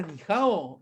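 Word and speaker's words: 你好: ¿Era Nihao en chino? Algo así puede ser. Darío me dice Sí, que sí, sí. Hola, hola en chino se dice ni hao.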